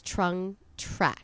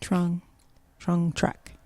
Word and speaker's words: Trung Trac: So when you look her up, it is Trung Trac. Trung Trac.